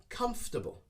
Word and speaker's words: comfortable: this one comfortable comfortable we try not to pronounce every single syllable okay so we shorten the sounds and we make it shorter by saying comfortable comfortable this chair is really